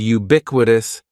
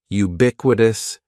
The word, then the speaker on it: ubiquitous: The first word is ubiquitous, and ubiquitous has 4 syllables. That first syllable is just like you're saying the letter U. Ubiquitous, and the stress is going to be on that second syllable. Ubiquitous, ubiquitous.